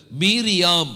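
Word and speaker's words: מרים: பற்றி நாம பார்க்க போறோம் தமிழ்ல நம்ம மரியாள்னு சொல்றோம் ஆனா ஆங்கிலத்தில் என்ன சொல்லுவாங்க மேரின்னு சொல்லுவாங்க இந்த ரெண்டு உச்சரிப்புமே தப்புதான் அவருடைய ஒரிஜினல் பெயர் வந்து மீரியாம் அப்படிங்கிற பெயர்தான் எபிரேய மொழியில மரியாளுடைய உண்மையான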